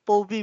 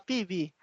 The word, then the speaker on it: Poby: yung kay ma'am ma'am Poby, basa ko sa kanya Poby eh. Pero ang basa niya PB.